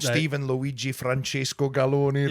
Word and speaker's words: Galloni: Right, but Steven Galloni, you're Italian, right? Steven Galloni rhymes with macaroni.